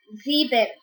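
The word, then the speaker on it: sieben: s six in german seven is said as zebel zebin s i e b e n z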